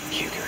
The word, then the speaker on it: Huger: winner i draw him mr david hugo here with me huger is right our other future eugene that's so good h is silent huge evil yeah we're